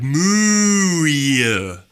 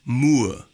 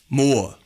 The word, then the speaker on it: Mooer: of the name it's more like no more no it's more that's what it is like you know you want more but spelled in a funny way those Chinese people they're